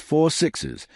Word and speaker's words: 6666: And then there's a long-rumored 6666 series, pronounced 4 sixes, which tells the story of a specific ranch named, 6,666.